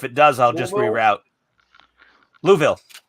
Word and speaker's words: Louisville: Louisville. It's like Whoville.